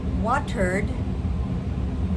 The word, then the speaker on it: watered: Talked to him or I watered the plant. That's a D sound. Watered.